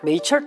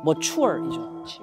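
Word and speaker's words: mature: 자, 또 발음 틀렸죠? 아시겠어요? 네이처. 네이처. 오케이, 좋아. 메이처? 메이처? 머추얼이죠. 영어 보세요. 같은 철자인데 앞에 자음 하나만 바뀌었는데 완전 발음이 확 달라지죠.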